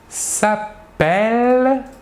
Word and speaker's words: s'appelle: En effet, le E suivi de double L se prononce est, alors que le E suivi d'un seul L se prononce E.